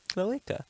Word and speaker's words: cloaca: It's not check. It just is cloaca. Let's put up on the screen how to say Cloaca. cloaca. It sounds like you're saying an Australian woman's name when you say it.